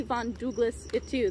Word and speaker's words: von Duuglas-Ittu: name in the future it's still the Von Douglas it too the W's make an ooh sound thank you so much